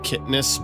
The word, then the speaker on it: chitinous: I say chitinous. I understand it's, the pronunciation is supposed to be something like kitness, but it sounds weird to me. So I'm just going to say chitinous. So anyone who wants to correct me, just know that I know the proper way to say it, but I am deliberately